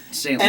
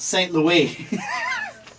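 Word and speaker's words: St. Louis: flight Ron St Louis no it was not St Louis it's pronounced St Louie do you know Alyssa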